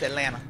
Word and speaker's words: Atlanta: in Atlanta let me I say Atlanta because you know I say all the syllables but when we when I'm at home it's Atlanta um I've heard that